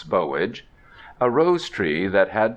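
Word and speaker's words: Boulge: to plant by the grave of bowage please pronounce bowage a rose tree that had been raised from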